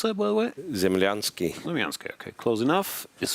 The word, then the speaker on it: Zemlyansky: As of 2025, Ivan Zemlyansky, how do you pronounce that, by the way? Zemlyansky.